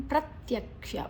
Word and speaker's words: ಪ್ರತ್ಯಕ್ಷ: ತಮ ಮುತ್ತಮಂ ಪ್ರತ್ಯಕ್ಷಾವಗಮನ್ ಧರ್ಮ್ಯಂ ಪ್ರತ್ಯಕ್ಷ ಪ ಮತ್ತೆ ರ ತ ಮತ್ತೆ ಯ ಪ್ರತ್ಯಕ್ಷ ಕ ಮತ್ತೆ ಷ ಷಣ್ಮುಖ ದೀರ್ಘ ಗಮನ್ ಮ ಆದ